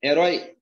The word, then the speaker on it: herói: Herói é paróxis? Não. Herói é a sílaba mais forte, é herói. Eu tenho aqui uma óxi.